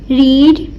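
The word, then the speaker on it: read: इसमें अब आप देख सकते हैं कि मैंने फर्स्ट फॉर्म में रीड पढ़ा, पर स्पेलिंग वही है, पर प्रोनाउंसिएशन हम इधर सिर्फ रेड करेंगे. रीड मतलब स्पेलिंग एज इट इज़ ही रहेंगे, पर सेकंड और थर्ड फॉर्म के साथ मतलब सेकंड और थर्ड फॉर्म में हम इसकी प्रोनाउंसिएशन रेड कर देंगे. रीड, रेड.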